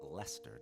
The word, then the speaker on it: Leicester: But not long after that, I moved to a place called Leicester, North Carolina, or Leicester, North Carolina. Doesn't matter how you pronounce it, the locals are still going to correct you.